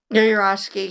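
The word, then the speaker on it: Yourofsky: It's like, well, then, Gary, how do you pronounce his last name? Urowski? Yurosky, yeah.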